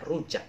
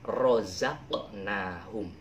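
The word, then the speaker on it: رَزَقْنَاهُمْ: Tapi jangan bacanya rujak, tapi rozaqnahum.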